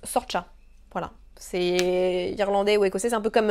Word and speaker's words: Saoirse: Quand c'est écrit Saoirse là, ça S-A-O-I-R-S-E, eh bien ça se prononce Sorcha.